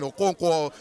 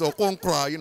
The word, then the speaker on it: Okonkwo: he's, he's American, so he's pronouncing Okonkwo as Okonkwa.